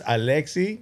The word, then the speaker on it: Alexis: It's Alexi. You don't pronounce really the S.